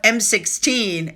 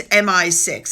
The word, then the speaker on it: MI6: to admit it so instead of M16 it's MI6 it looked like a 16 to me but apparently it's MI6 so I apologize for the mispronunciation also the woman in